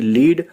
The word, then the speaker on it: LEAD: जैसे READ, रीड को कभी रीड पढ़ा जाता है और कभी रेड। ऐसे ही LEAD को कभी लीड कभी लेड पढ़ा जाता है, जो कि कई लोगों को फनी लगता है।